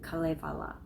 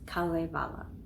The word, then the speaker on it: Kalevala: And the Swedish and Finnish people, I think they were saying it like Kalevala. It seemed like it had a double accent. Kalevala, I think.